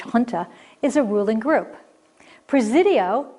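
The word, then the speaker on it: junta: group of ships now number four looks like it should be genta but it's pronounced hunter and i've forgotten my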